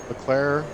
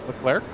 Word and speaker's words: Leclerc: um gets the win leclaire leclerc uh that that guy he pronounced the last c you're the you're the